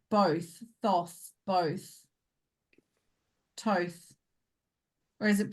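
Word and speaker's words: Thoth: do you pronounce th t h o t h the ancient Egyptian god tho is pronounced T HT rhyming with loath to or t h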